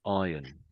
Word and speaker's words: iron: So in the in I England we say this we pronounce this the metal as iron. Iron. So the R is completely silent for English people.